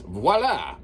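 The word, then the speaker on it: voilà: Or I guess the proper way to say it is voila.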